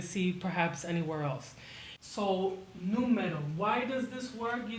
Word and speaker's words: número: It's better than saying numero. So, número, número, número.